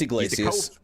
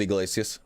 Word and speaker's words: Iglesias: going to butcher it it's Iglesias you can pronounce it Iglesias that's I've seen him interviewed in person his name's Iglesias Matthew glaze listed he's